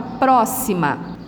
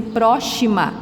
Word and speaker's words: próxima: né no terceiro ano geralmente alguém iria ler assim próxima mas não o x ele tem esse som também nós vamos estudar ele em algum momento aqui tá para vocês entenderem de algumas palavras se escrevem com x e o som tem esse sondo da próxima Oi e a outra